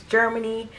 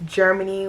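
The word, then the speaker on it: Jhermine: am my name is germany my name is extra as it is like it's germany with a j h e r m i n e if you can't spell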